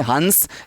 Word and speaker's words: हंस: इसका उच्चारण हम लोग करेंगे हंस, इसका हम लोग करेंगे हंस। हालांकि हम जब अनुस्वार की, अनुनासिक की बात करेंगे, एक दिन स्पेशल वीडियो बनाऊंगा पूरा, और आपको ध्यान में आएगा कितनी समस्याएं हैं देखना। लेकिन फिलहाल मैं ये कह सकता हूँ कि इसका उच्चारण हंस होता है, और ये एक